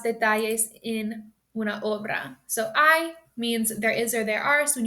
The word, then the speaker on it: hay: So I means there is or there are. So when you see that word, it's not pronounced hey, it's pronounced I.